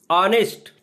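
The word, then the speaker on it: honest: ऑनेस्ट English का शब्द है। लेकिन उसका ऑनेस्ट में जो उच्चारण आ रहा है ऑनेस्ट उसका पहला शब्द है हिंदी का स्वर।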